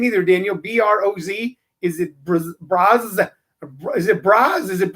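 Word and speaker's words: Broz: daniel b-r-o-z is it braz is it bras is it brazier is bros short for brazier shoot your name since it's b-r-o-z but it's pronounced bros it's b-b-r-o apostrophe s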